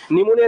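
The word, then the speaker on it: pneumonia: ডিমোনিয়া যত কিছু আছে নিউমোনিয়া রিলেটেড যেটা একটা ঠিক আছে এগুলো পি দিয়ে শুরু হয় পি থাকলে পরে এন উচ্চারণ করি ঠিক আছে পিএন থাকলে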